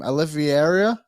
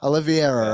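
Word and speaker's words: Oliveira: poster and I do not say his name Olivia do you know that one Olivia oliviera right Charles he is a Aaron you might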